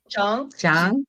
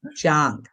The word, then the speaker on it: Jiang: And actually, my last name is pronounced Chiang. John. As if the CH or J, actually. Oh, Jang. Jang? Jong? Jiang? Like Jiang? I know, it's not easy. Okay. Dr. Jiang.